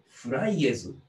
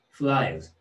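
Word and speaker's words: flies: フライエズ？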